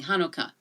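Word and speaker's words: Hanukkah: with the letter Chet the letter H makes the closest sound so both names work and can be used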